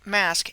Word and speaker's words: masque: The English word masque, M-A-S-Q-U-E, is phonetically identical to the word mask, M-A-S-K, a word which describes hiding something from view.